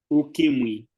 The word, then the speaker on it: Ukimwi: and ukimai, Ukimwi. ukimwi. Ukimwi. This is also a diphthong. Yeah, So the like M. yes, like for example, we say mwalimu, right?